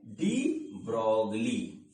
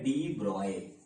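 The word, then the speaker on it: de Broglie: और बच्चों एक है जो आगे भी आप पढ़ोगे, वो है डी ब्रोगली। मैं इनको ब्रोगली ही बोलता हूं, जबकि किताब में लिखा हुआ है कि इसका जो प्रोनाउंसिएशन है वो है डी ब्रॉय।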